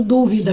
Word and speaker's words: dúvida: Por exemplo, dúvida, que é uma incerteza, e duvida, que é uma flexão de duvidar. Então, essa tem uma mudança da sílaba tônica.